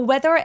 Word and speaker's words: weather: 그리고 weather의 강세가 EA 부분에 오는데 이 EA가 스펠링이 기니까 길게 발음을 해야 될 것 같은 느낌을 주는데 사실은 굉장히 짧은 소리예요.